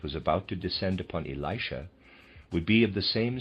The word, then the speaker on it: Elisha: I'm going to read as aside, I will pronounce that Elisha. It might be Elisha.